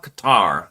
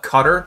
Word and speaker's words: Qatar: Israel attacks Hamas senior leadership in Doha Qatar. And by the way, some people call it Qatar, but I believe the actual pronunciation is Qatar.